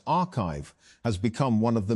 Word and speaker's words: arXiv: Although papers are posted to the site before they are peer-reviewed, arXiv, pronounced archive, has become one of